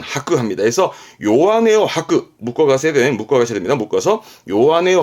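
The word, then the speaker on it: 弱音: 그래서 발음 또한 요한에, 요한에.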